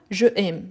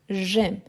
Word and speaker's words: j'aime: ici j'ai j'aime ah est très important aussi par rapport à la prononciation c'est pas jeaime non j'aime imagine imaginez-vous qu'il y